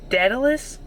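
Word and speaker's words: Daedalus: I just looked up how to pronounce this. Datalus.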